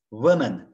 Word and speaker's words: women: Women, tekil. Yine böyle Pretty Woman filmi vardı belki hatırlarsınız. Women, women. Bakın A, E ile yazılıyor. Women, okunuşu da women. Burası I şeklinde okunuyor.